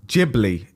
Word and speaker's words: Ghibli: got what was it uh studio jibli is how we pronounce it yeah the new image